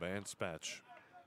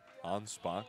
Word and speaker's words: Anspach: Rob Anspach comes in. Anspach, I beg your pardon. Dean Adams on the PA, giving the proper pronunciation here.